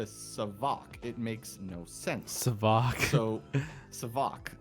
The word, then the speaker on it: Savac: It's pronounced like Savage because that's where it's from. So why would I go from Savage to Savac? It makes no sense. Savac.